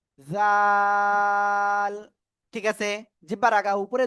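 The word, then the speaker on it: ذال: জাল জাল।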